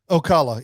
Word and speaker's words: Ocala: town because I remember Ocala yeah yeah that's how you say it because I I would